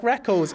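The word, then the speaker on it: Rekkles: me going, I like Reckles. And these idiots on Reddit, they're like, oh, actually, I got super worried. He said Reckles, and I'm like, dude, it's spelt like that.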